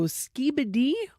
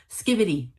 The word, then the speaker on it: skibidi: So skibidi or skibidi? Skibbity. Skibbity. Okay, I was entirely wrong.